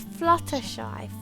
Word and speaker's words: Fluttershy: It's not flutter. It's Fluttershy.